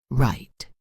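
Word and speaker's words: write: Right, the W is silent.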